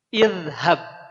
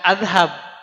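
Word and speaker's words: اذهب: maka kata ini dibacanya Jadi gimana idhab bukan azhab oh karena ini ha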